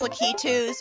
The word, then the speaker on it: Lakitu: so annoying yeah those are those are technically pronounced lucky twos but I don't give a it sounds way too Japanese so I just prefer to call them lack of chose I mean since when are there really Japanese